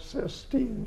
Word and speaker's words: Sistine: And the how do you pronounce the chapel with all the paintings? The Sistine Chapel? Sistine, thank you.